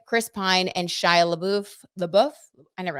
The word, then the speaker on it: LaBeouf: have Anna Kendrick Chris Pine and Shia LaBeouf the buff I know how to say his name but